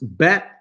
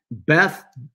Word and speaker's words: bet: And the next letter is it looks like Bet, and it can be pronounced Bet, Beth, Bait. Different slight pronunciations.